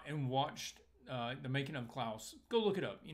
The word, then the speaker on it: Klaus: making of cloths cloud let's get how they pronounced it Klaus Netflix is 2d animated Santa Claus film that